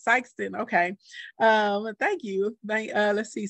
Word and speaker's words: Sikeston: The second way I said it, Sikeston.